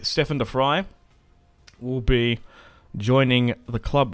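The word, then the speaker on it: de Vrij: and signed is stefan defry i think that's how you say it some people say stefan devry but it's defry from what i'm aware i'm not dutch dutch subscribers let me know i've always said defy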